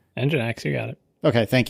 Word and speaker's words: Nginx: How do you pronounce that? Nginx? Nginx, you got it.